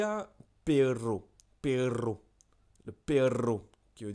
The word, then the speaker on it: perro: Je vais te donner quelques mots pour bien prononcer le air roulé. Il y a perro.